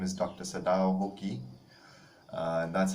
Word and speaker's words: Sadao Hoki: Sadao Hoki. That's how it's pronounced, Sadao Hoki.